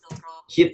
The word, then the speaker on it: heat: Heat ya. Heat memanaskan. Yes. Oke, tadi bacanya head ya, sedengar saya. Mungkin bukan head tapi heat.